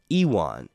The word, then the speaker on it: Ewan: job of playing I I say his name wrong it's Ewan or Ean euan Ean like Ewan McGregor but I say Ewan like Ewok Ewan hey yo what up